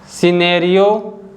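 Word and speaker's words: scenario: The letter C is silent when it comes after the letter yes. अगर letter सी यस के बाद आता है तो सी को हम नहीं बोलते हैं, जैसे कि muscle, Saint, सिनेरियो, science, discipline.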